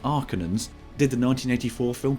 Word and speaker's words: Harkonnen: The villains, the Arconans, whose name is pronounced differently in this version, with Arcanans.